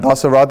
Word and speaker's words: Dasarathy: And Dasarathy is like the car Maserati, so that's how you pronounce my name.